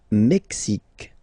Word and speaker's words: Mexique: Le Mexique. Le Mexique. Mexique. It's really the X. Huh? Le Mexique. And then remember this Q-U-E, it's only K.